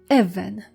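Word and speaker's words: אבן: Even.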